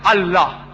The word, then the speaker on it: Allah: They write it as I-L-A. But when you pronounce it, we have to tell them, pronounce it as Allah.